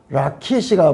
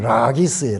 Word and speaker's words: 라기스: 라키시가 뭐냐 그러면 라기스예요. 라기스.